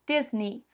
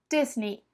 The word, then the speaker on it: Disney: aqui no Brasil mas o jeito certo é Disney Disney Disney é assim que você fala esse e y no final tem sonzinho de I Disney Disney bom outra marca